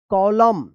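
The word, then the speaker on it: column: है आप ध्यान रखिएगा अगर एम और एन एक साथ लिखा गया है किसी भी वर्ड में तो यहां पे एन जो है ना ये साइलेंट रहता है और एम का उच्चारण होता है।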